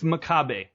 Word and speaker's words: Makabe: Is it Makabe or Makabe? It's Makabe.